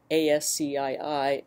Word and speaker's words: ASCII: a character encoding for example one that's called ASC III and pronounced ASCII so if you look at a